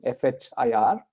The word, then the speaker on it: FHIR: F-H-I-R, you pronounce it FHIR.